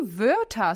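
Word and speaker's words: Wörter: das palavras ao dicionário atenção pra pronúncia D desse primeira parte verta o o com trema vai ser a gente vai falar fazendo boca de o falando e E então fica v e o er no vernal ção de a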